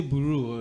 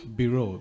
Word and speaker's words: bureau: and staff this is biro biro you you pronounce it as if it's spelled b i r o w that's how you pronounce